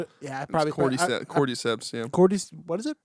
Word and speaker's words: Cordyceps: cordial seps. Yeah, I probably... Cordyceps, yeah. What is it? It's spelled cordyceps, but they say like cordyceps.